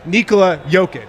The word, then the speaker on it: Nikola: no i love him he said no it's nicola yeah damn right right in addition to being